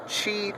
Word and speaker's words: Qi: It's a Qi charging pad. Qi is spelled Q-I, I believe.